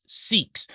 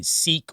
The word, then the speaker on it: Sikh: million adherents known as Sikhs. Now, the pronunciation of Sikh or Sikhism is what we say in the Western world, but in the Eastern world, they say Sikhs or Sikhism.